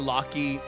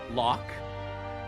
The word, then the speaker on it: Locke: And it took me a long time to kind of reconfigure to calling Lockie Locke, because the E is silent.